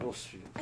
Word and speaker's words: Rosfield: R-O-S and then Field, But the he boy pronounces is it like also the Rosefield, Phoenix.